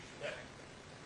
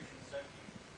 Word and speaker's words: Shinseki: At that time, it was Secretary, how do you pronounce it? Secretary Shinseki. Okay, Secretary Shinseki repeated back what the Congressman asked, what exactly the law meant.